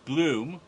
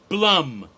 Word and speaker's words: Blum: name is it pronounced Blum like you'd expect it to be if you know anything about German names but pronounce Blum rhymes with plum or Chum or rum yep Blum and the